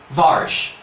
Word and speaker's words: Varcha: 7 centuries at least, the Avestan Varcha, meaning miracle, would have been pronounced Varsh, just like the word for cultivate or do.